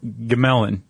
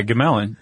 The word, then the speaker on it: Gmelin: A guy named Eberhardt Gmelin. No. Yeah, Gmelin. Yeah. I think it's g m e l i n. I would go silent g on that.